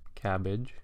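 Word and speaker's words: CABG: coronary artery bypass grafts or cabbage as the acronym sort of allows us to pronounce it cabbage is is really only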